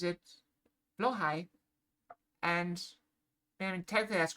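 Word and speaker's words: Blåhaj: with someone else and they called it a blahage or blah. Um, I've always heard it pronounced blowhai because one of the people I watch is Swedish. So he pronounces it blowhai and technically that's correct because it is from IKEA.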